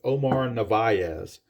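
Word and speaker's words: Omar Narváez: that guy's name, and the announcers called him Omar Narvaez. So that's what I will call him from now on. He is Omar Narvaez.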